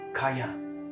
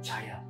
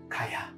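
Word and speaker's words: חָיָה: The word shall live in the Hebrew words is kaya. You know, there's a hotel in KK called Kaya Hotel. By the way, it's pronounced kaya. It's not chaya.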